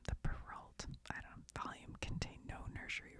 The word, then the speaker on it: Perrault: The Perrault, I said it right the first time, the Perrault, volume contained no nursery